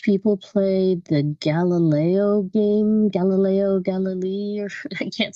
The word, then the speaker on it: Galilei: sat and watched people play the Gallo game Galileo Galilee I can't say his name Galileo galile